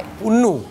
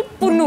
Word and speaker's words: Pannu: थोड़ा चेंज करते हैं पी ए की जगह ना पी यू एन एन यू कर देते हैं। I don't know why. पन्नू। This is the biggest experiment on मी। सो, इट्स तपस तपासी पन्नू।